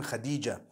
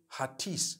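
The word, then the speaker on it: Hatice: e I would say hatis for that no it's actually Khadija in Turkish that's the way they write it so what subhanallah let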